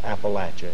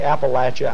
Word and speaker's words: Appalachia: You know, you say Appalachia, I say Appalachia. For the first time in my life, I heard a pronunciation during the 60s, Appalachia. I still have to work to even say it.